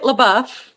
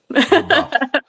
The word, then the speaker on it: LaBeouf: we Americanize it, LaBeouf. LeBuff. Yes.